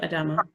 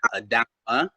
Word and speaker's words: Adama: So I've been called anywhere from Adam A to people just have their different way of pronouncing it. And actually, my name's not really Adama. In Mali, we say Adama, but people have a time saying that.